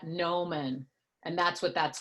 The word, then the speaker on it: gnomon: called the gnomon and it's spelled with a silent G so that's and you say that no man and that's what that's